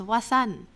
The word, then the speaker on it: Wasan: It's wasan. Nope. How do you spell that? Wasan, like wa, and then sun with a so.